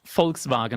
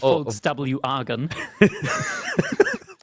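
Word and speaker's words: Volkswagen: It's folks vagaren not folks w argan.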